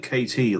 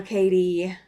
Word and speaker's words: Katie: Mountain oh okay Katie I thought you said KT like as in Greenland quter I was like that's a very late dinner for her yeah no Katie um I don't tend to pronounce my D's very harshly or very very strongly so I understand okay